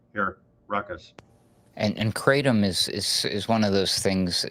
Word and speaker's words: kratom: It's called kratom.